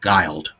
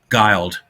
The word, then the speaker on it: Guild: Yeah, it's pronounced Guile. Of course it is. Yeah. When she signed when she signed with 20th Century Fox early on, they tried to do a campaign saying Guile rhymes with wild.